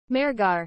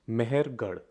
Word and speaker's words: Mehrgarh: Mehrgarh. Well, not quite, my digital friend. It's actually pronounced Mehrgarh.